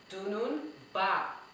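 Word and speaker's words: dununba: So let's try to see how many syllables we have in dunun ba. Okay, let's try that again. Dunun ba. That is D-U-N-U-N-B-A. Dunun ba. Let's go. Dunun ba. That's 3 syllables.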